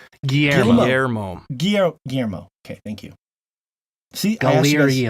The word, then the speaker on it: Guillermo: Gilliam how do you guys say Guillermo gyo Guillermo okay thank you si Collier um oh yeah